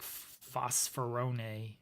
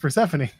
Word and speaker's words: Persephone: It's like Phosphorone. I'm that. I'm sorry. Isn't it Persephone? Persephone? Is that how you say it? Pretty sure it's just Persephone.